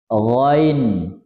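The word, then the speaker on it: غين: lo, lo, ain, ain, ghain, ghain. Perhatikan ghain bukan arin ya. Berapa yang ngaji dengan saya, apalagi orang yang senior yang sudah sesepuh, biasanya dibilang arin, karena memang waktu kita kecil dulu bacanya arin.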